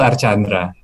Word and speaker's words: Arcandra: Untuk nama Bapak itu sebenarnya dibacanya Arkandra atau Archandra nih, Pak? Karena kan banyak versi ya saya dengar nih. Yang benar tuh Archandra.